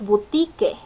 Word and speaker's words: boutique: pantalla empezamos con boutique boutique no es una palabra en el español sino la pronunciamos boutique bolt y que es una palabra que viene del francés el francés es una